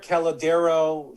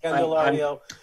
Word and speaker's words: Candelario: Jamier Calladero for Detroit. I've been pounding. Candelario. I will help you with pronunciation.